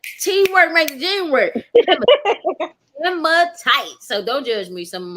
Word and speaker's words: hematite: It's Hematite. Hem. I don't know. I'm not Hematite. hematite. There we go. Thank Hematite. you, Mhm. Melvina. Teamwork makes the dream work. Hematite.